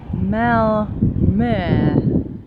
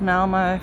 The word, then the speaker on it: Malmö: Greetings from Mal. Is that how you say it? Sounds like that's how you say it. Yes, you're supposed to say the O as in E.